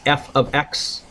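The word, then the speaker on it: f(x): kind of rewrite it we pronounce this F ofx so I'm just going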